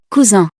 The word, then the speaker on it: cousin: This happens when a single S is between two vowels. You can hear it with those two examples. Cousin, poison.